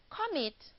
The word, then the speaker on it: commit: c-o-n-t-r-o-l-l-e-d another example commit commit has two syllables calm and meet mitt is a stressed syllable and it is a